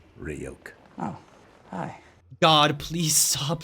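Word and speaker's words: Ryuk: lampshading Rider I wonder that come up it's pronounced roke oh hi God please stop speaking sorry for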